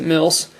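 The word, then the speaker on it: mils: Government of Cyprus 3 mills or at least I think you pronounce it mills.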